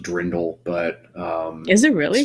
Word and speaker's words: Dirndl: Oh, Durndal? Yeah, that looks Yeah, good. she found it already. Dirndl, DIRNDL, or I think it's pronounced Drindle, but Is it really?